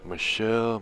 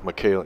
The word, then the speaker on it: Michaela: Michelle Montano. If that don't sound gangster. Am I saying it right? Michaela. Oh, Michaela. Yeah, Michaela Montano.